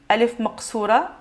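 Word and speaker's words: ألف مقصورة: Donc, ça représente la même façon de prononcer la lettre Alef de prolongation. Donc, on va dire A. Mais sauf qu'ici, Alef Maqsoura, elle sera de cette façon.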